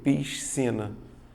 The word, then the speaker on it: piscina: aqui ó eu tenho o tal do dígrafo vai fazer um único som som de s diferente da palavra escola